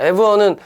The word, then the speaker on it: abhor: 자, abhor는 horror 생각하면 돼. 얘랑 똑같아. horror 이렇게 하면 horror지. horror 하면 horror잖아.